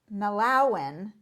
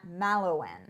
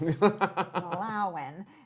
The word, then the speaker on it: Mallowan: Mallowan, not Mallowan. Yes, accent on the 2nd syllable. Yes, Mallowan.